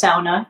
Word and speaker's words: sauna: And it's pronounced sauna cuz it's a Finnish thing that they go into that and then they jump into a cold lake with no response.